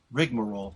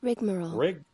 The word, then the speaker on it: rigmarole: Oh, I pronounce the A, the Rigamarole. Exactly. See, you're saying Rigmarole. No, Google's saying that. Yeah. Listen. Rigmarole. See, Rigmarole. Yeah. And I go Rigamarole. Exactly. That's what I was answering. Yeah, but it's the English language. They can pronounce it both ways, and it both work.